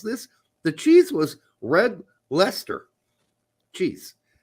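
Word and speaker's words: Leicester: okay it's called red Lester cheese and she came up she says is this like Hester that's exactly what she said how do you pronounce is this like Chester is it yeah I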